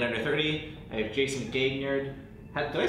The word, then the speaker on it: Gaignard: But there's an extra G there. Well, Gaignard is where, like, if you were in France, and I was trying to impress a lady, that's how you say it.